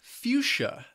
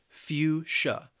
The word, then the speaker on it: fuchsia: The next color is fuchsia. This word has two syllables and the stress is on that first syllable. Fuchsia. Fuchsia.